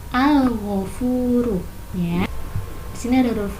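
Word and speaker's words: الغفور: Nah, kalimatnya al-ghafuru, dibacanya al-ghafuru. Alnya jelas, al-ghafuru ya.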